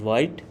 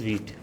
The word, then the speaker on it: Vite: um by Instinct maybe you are going to pronounce it as white but it is wheat so these are the three things we'll be